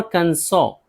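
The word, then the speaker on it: Arkansas: और कंसो, और कंसो एस है लेकिन नहीं पढ़ेंगे।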